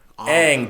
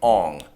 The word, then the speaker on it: Aang: follow the characters characterizations they didn't even pronounce the names right aang became ong saka became sokka oh what we leave